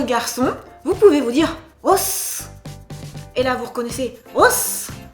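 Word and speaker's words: おっす: Et là encore, prononciation, « Os !» Il faut retenir le « s ».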